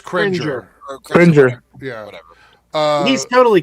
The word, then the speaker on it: Cringer: No, it's Cringer.